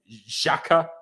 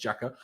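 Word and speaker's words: Xhaka: got not made by jacques you know get any closer names even though it's apparently pronounced jacker um at least the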